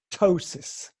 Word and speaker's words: ptosis: charge have a condition called ptosis spelled p te o s is and in almost all